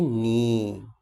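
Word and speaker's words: 你: Falling and rising, পড়ছে, উঠছে।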